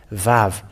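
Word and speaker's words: ו: aramian uh word that the letter V it is called it is pronounced V and it is clear with that that the holy scriptures say that aramian has the uh pronounced the word VAV V A V and it hasn't changed to U but for them because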